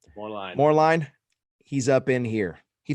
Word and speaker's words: Moerlein: Moerlein? Moerlein.